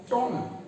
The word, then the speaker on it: tomb: तो यहाँ पर आपको कहना होगा इसको टॉम, यानी आपको इस डबल ओ वाले साउंड को एकदम ऊ ना करके आपको बोलना होगा टॉम।